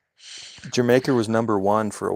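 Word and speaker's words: D'yer Mak'er: It's pronounced like the country. It's Jamaica. I don't speak I don't speak hillbilly. It's Jamaica because it's regular.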